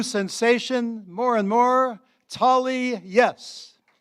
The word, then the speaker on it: Yess: Yes. Um, my last name is spelled ye ss. Second S is silent.